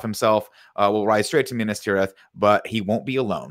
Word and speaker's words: Minas Tirith: Minas Tirith? That time you said it right. Minas Tirith.